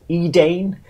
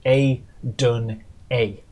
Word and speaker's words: Edane: before, and of course I then got about roughly 1,000 comments telling me that's not how you say it. It's A-dun-A.